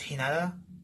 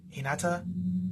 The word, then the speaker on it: Hinata: But this character's name is Hinata. Hinata. It's spelled the same way and pronounced from Naruto.